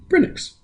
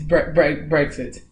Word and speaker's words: Brexit: And how did you pronounce it? Brenix. It's Brexit. Thank you.